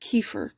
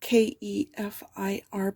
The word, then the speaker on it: kefir: it's uh water kefir i thought it was pronounced kefir k-e-f-i-r but it's it's pronounced kefir and oh my